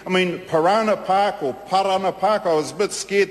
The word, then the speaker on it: Parana: make sure that that uh the the proper pronunciation is po TIY tii I mean pirana park or Parana Park I was a bit scared they might call it panana Park which uh which means banana Park I mean